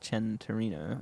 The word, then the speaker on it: Centenario: um it's spelt santorino but it's um it's pronounced chen torino okay um i'll look it up centenario centenario sorry and um it's uh it's actually came out in uh 2016.